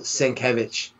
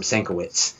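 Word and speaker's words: Sienkiewicz: I haven't heard it I walked up to a bill syncovich at a convention years ago and called him Stankiewicz and he to my face corrected corrected the pronunciation so I was like oh okay and then I started noticing him at conventions he now phonetically as a banner that phonetically spells it out says st. cabbage so don't take it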